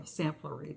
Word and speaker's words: Samplery: Yeah, Samplery. That's how you say it.